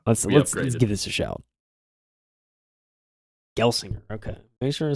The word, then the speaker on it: Gelsinger: I wonder how we can figure out, Mike, what that's supposed to be pronounced like. Yeah. Let's give this a shout. Gelsinger.